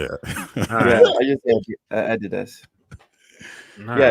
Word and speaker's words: Adidas: yeah it's just that Adidas if you look at the words there need to be either two eyes or an accent on the on the D for you to pull it down that's too much doing